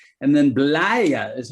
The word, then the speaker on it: Blaye: the times of the romans right and then blaire is how you pronounce this blaire and i know uh liz likes to talk a little bit about blaia as well and all and this is a